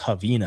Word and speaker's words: Ravina: Yeah, it's pronounced Ravina, I guess. Ravina. From Brazil, Ravina.